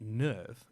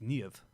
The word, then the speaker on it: NERV: off Germanic names so it's not nerve it's near of yes because the previous